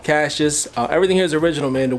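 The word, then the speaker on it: Cacia's: and this is the original location and it's pronounced Cash's not see is how you said in the car you can see it no luckily I heard her on the phone she's like Cash's I'm like oh that's how you say it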